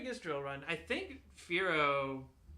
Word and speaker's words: Fearow: Fearow is a combination of fear and sparrow. Okay. Or arrow. I used to pronounce it Pharaoh instead of Fearow.